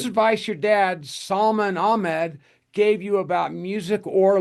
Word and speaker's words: Ahmad: So I've grown up to say Ahmed, but it doesn't sound like it when you look at it. It almost sounds like the ah is in there, Well, I'm sorry I've